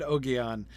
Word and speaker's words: Ogion: I will pronounce it Ogion.